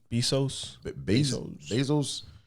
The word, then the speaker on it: Bezos: How do you pronounce that nigga last name? Bezos.